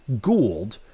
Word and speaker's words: Gould: 2026 and of course that gets commissioner Teresa Gould I and I stuttered for a second I stopped for a minute there because I was thinking of Robbie Gold now the correct pronunciation for hers is Gould yet Robbie Gold the former Chicago Bears and